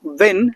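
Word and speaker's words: won: हिंदी होती है जीतना, इसके सेकंड फॉर्म थर्ड फॉर्म को जो प्रोनाउंसिएशन है वो वन होता है, ONE वन, वो प्रोनाउंसिएशन ही रखता है। तो इसको वोन ना बोले, it's incorrect absolutely, you गॉट टू से वन।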